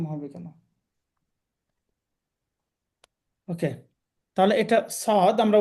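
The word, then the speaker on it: صاد: সদ পে সুই সু আমাদের মনে রাখতে হবে জহবার আগা সামনের যে নিচে নিচের দাঁতের যে অংশটা আছে দাতের আগার সাথে জহবার আগা লাগিয়ে উচ্চারণটা করতে হবে সই স সি সু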